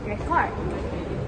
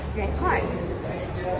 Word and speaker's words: record: So for instance, this word is pronounced as record. Record if it is a noun and it is pronounced as record. Record if it is a verb.